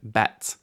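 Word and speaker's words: בית: later letters later on BET makes a b sound just like its name B now let's add some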